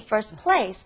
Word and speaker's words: first place: When you try to say it fast, we pretty much take out the T, first place.